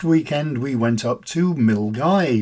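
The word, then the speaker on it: Milngavie: we went up to mil guy which isn't pronounced the way it looks it's the place where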